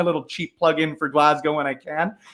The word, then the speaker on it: Glasgow: I'll get my little cheap plug in for Glasgow when I can.